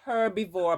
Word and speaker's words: herbivore: It's herbivore, but I don't think we pronounce the H.